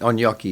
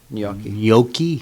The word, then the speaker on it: gnocchi: I got chicken gnocchi is delicious. And you can't. It's never any good anywhere. I know. How do you pronounce it? Gnocchi.